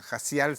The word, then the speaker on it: Jaciel: general valiente, y este Jaciel fue uno de los guerreros de David. Jaciel se llama, Jacial se pronuncia en hebreo, para que cachen, no es que yo cambié mi apellido, no, se pronuncia así, ¿ya?